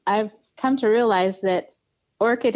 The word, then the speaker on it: Orchid: come to realize that Orchid is a really hard word for a lot of people when they see it they want to say Orchard and they don't know